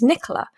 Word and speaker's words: Nicola: to tell you because i love the way you pronounce it because it makes it sound so much more interesting than the british way which is nicola um and i was